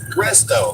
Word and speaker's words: Resto: Resto, like restoration.